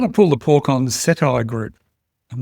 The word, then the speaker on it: Cettire: No, but apparently the CEO makes it rhyme with satire according to uh Rear Window and the feed.